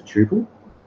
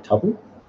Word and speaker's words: tuple: An MVP is a tuple or a tuple, depending on how you say it.